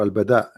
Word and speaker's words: البداء: or al-bala? What? Sorry. I'm trying to understand what you are saying. Al-bala or al-bada? Well, Bada. al-bada With dal, yes.